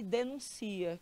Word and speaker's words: denuncia: Denúncia, que é o substantivo, e denuncia, que é o verbo. Veja que eles são iguaizinhos, só muda às vezes até uma acentuação, mas a pronúncia é completamente diferente.